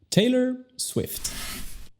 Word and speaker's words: Taylor Swift: Taylor, Taylor, Taylor Swift.